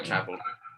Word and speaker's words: traveled: So remember, you only pronounce id after a t or d sound, and there's no t or d sound in traveled in the end. So you say the d sound only because it's voiced.